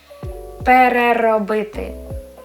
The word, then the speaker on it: переробити: Pe, re, ro, bi, ti. Let's try to say it together. Переробити, переробити. I pronounce every single vowel sound.